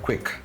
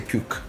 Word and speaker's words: quick: Make them pronounce the word quick. Okay. Why? Mallayalis uh they they tend to say not everyone they say. Cuke. Quick.